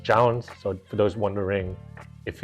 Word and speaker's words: JJJJound: it's how it's spelled and but it's pronounced JS so for those wondering if is a starter it's not it's just I guess the way that it's placed and played with so it's 4js but it's pronounced JN let's get unboxing and here they are they